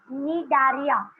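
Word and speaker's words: Cnidaria: Okay, Nidaria. So C is silent there and Nidaria का मतलब होता है stinging, जो आपको मधुमक्खी की तरह sting कर सकते हैं.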